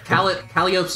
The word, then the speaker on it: Calliope: I keep forgetting Calliope's name is pronounced Calliope.